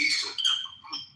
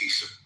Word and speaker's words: Isa: B they pronounce it Isa the Muslims pronounce it as Issa not Esau it's Issa okay yeah so